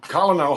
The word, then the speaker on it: colonel: Colonel Hogan. Colonel. But the word is spelled C-O-L. No. It's spelled Colonel. That's phonetically right. Well, but maybe the French pronounce it that way.